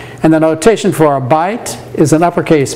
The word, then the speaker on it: byte: It's spelled B-Y-T-E, but it's pronounced byte as in have a byte.